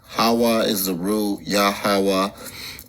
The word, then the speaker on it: Yahawah: it's it's uh W haah is the rule yahawah it's pronounced yahawah not Jehovah this German or Indo-European and these J G's